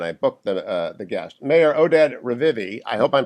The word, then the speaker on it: Oded Revivi: Mayor Oded Revivi, I hope I'm pronouncing that correctly, Mayor, runs Efrat.